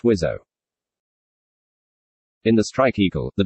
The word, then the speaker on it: WSO: the cockpit for a weapons systems officer or pronounced wizzo in the strike eagle the wso is in